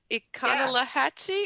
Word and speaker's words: Econlockhatchee: Econlockhatchee? Yeah. Okay, you go. I am extremely familiar with the Econlockhatchee.